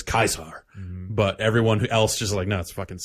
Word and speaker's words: Caesar: or Caesar's Legion but his own people pronounce it kaisar most of the time but there are some spots where they clearly just up recording dialogue and they say Caesar like I think the